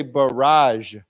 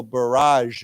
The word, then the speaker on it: barrage: So we say barrage. Okay. So it's this accent is on the second syllable. So barrage.